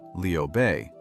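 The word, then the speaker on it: Liu Bei: Liu Bay, pronounced Leo Bay, who claimed descent from the Han imperial family, was cast in that role.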